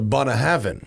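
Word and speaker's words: Bunnahabhain: And it was the real way to pronounce it was the Bunahavan.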